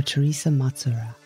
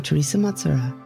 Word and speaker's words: Thersa Matsuura: All you need to do is search for Teresa Matsura. Let me spell that for you.